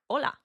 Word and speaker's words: hola: So we just say it like hola.